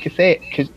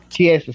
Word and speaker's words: Chiesa: Even in that fight against Kasea, I keep saying his name wrong. He didn't really put combinations. Yeah. Anthony, the one he fought this week, Michael Kasea. Is it Kasea? Chiesa, sorry.